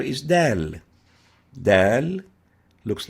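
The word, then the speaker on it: د: a lingual alveolar letter the name is dal as in dali dal dal pronounced and named dal dal next letter is dal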